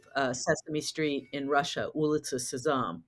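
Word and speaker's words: Улица Сезам: Sesame Street in Russia ulit saam which is how you say the name of the show in Russian and um we had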